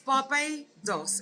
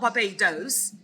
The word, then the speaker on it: Barbados: you say it Claire it's barbos it's not Barbados it's Barbados Barbados I'm